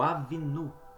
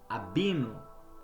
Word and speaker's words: Avinu: é o pai amoroso, o Avinu ou Abino, como queira pronunciar, que deseja proximidade com seus filhos, porque se escreve avino, mas se lê abino, mas pode se ler avino também ou avinu, não há problema.